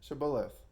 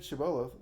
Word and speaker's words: Shibboleth: never say to him say now Shibboleth with it but he said chabela for he could not pronounce it correctly much like me then